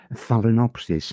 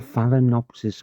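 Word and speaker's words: Phalaenopsis: And there's one type called Phelinopsis. Now, let me spell that for you. It's P H A L A E N O P S I S. A phallinopsis orchid.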